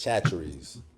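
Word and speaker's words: Chachere's: Chacheries.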